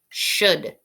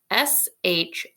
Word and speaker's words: should: Do you notice that the L is silent?